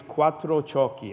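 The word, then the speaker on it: Quattrociocchi: John for the record it's Quattro chalky okay means for drunks so I'm excited to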